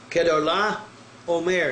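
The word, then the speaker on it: Chedorlaomer: Kedar-Laomer is the way it will actually be pronounced.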